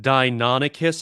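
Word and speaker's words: Deinonychus: actually a dia nope d dia no it's pronounced dinonicus i know this because i turn into one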